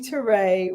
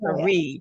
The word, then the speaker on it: Terre: So I'm going to say it's Terré, not Terre.